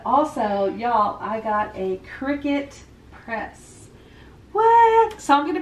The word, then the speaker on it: Cricut: me a qriket maker is it cricut or cry cut it's cricket otherwise i've been pronouncing it wrong but no um i guess well die cut it's a die-cut machine so i guess i could see why people would say cry cut but i am 99